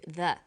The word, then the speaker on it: the: banana and the bananas there is a difference in pronunciation though when the comes before a vow sound we say the the apples so the before vow sounds and the before consonant sounds let's look at the